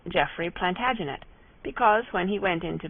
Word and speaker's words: Plantagenet: covered with his visor the Latin name for broom is plantag genista and gradually it came to be pronounced plantagenet although Jeffrey was French